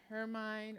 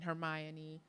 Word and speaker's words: Hermine: After Hurricane Hermine, or as like I still pronounce it, Hurricane Hermione.